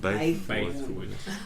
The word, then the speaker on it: Bythewood: There's no L. It's just Bythewood.